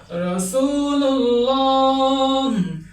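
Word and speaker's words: رسول الله: এভাবে উচ্চারণ করতে হবে। রাসূুল্লাহ আল্লাহ শব্দের আগে পেশ রয়েছে।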